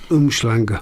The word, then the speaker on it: Umhlanga: But Umhlanga. Thank you, Pedro, for pronouncing it correctly.